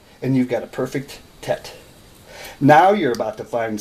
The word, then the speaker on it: Tet: just made a perfect Tet some people spell it TI t EIT but it's tet and you've just made